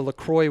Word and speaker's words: LaCroix: looked oh so nice - straight from the Lacroix website how is Lacroix pronounced La Croix it rhymes with and joy